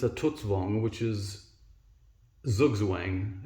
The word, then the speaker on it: Zugzwang: Some people might say that it's a Tutzwang, which is Zugzwang. It's spelt Z-U-G-Z-W-A-N-G, and it's German for compulsion to move.